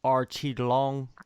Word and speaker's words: Aoriqileng: what i've done all right now you're facing archie long that's how you pronounce his name i actually interviewed him oh